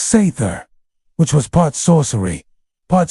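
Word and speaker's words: seiðr: Sometimes it leaned on magic specifically a mysterious practice called s pronounced sther which was part sorcery part spiritual therapy and part my ex won't return my runes.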